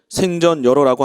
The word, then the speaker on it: 생전예로: 생전예로란 바른 발음으로는 생전여로라고 한다.